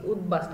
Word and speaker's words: উদ্বাস্তু: এই যে ব আছে তার কিন্তু একটা স্পষ্ট উচ্চারণ আমরা পাচ্ছি উদ্বাস্তু, একইভাবে উদ্বেল, হ্যাঁ এই শব্দটিও বলা যায়।